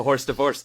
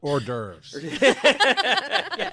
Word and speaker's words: hors d'oeuvres: a horse divorce because we got into such a massive argument. I believe it's pronounced hors d'oeuvres.